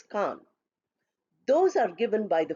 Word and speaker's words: Cannes: It is written as with S but pronounced as Cannes.